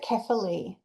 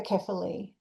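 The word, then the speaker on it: κεφαλή: Is it Kathali? Kafali. Kath. Um, I pronounce it carefully. Carefully. There's different schools. So, there's even different schools of thought on how to pronounce ancient Greek, but I prefer carefully.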